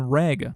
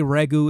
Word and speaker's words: Reg: recently discovered robot companion reg or some might say regu it depends on which pronunciation you like better I might just start